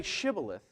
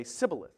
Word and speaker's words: shibboleth: ephraimite someone from Ephraim could not say an sh and so when they would say to them say shibboleth an ephromite would say sibilith they couldn't pronounce that sh they could dress up